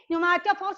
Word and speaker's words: pneumatophores: So these roots are called the pneumatophores. Okay, pneumatophores. Well, P is silent.